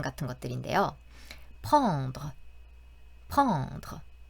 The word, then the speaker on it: pendre: 하지만 조금 유의했으면 좋겠다 하는 부분들은 그 아래 발음 같은 것들인데요. pendre, pendre.